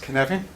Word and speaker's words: Cynefin: It's pronounced Cynefin. And no Afrikaner speaker can complain about Welsh pronunciation, all right?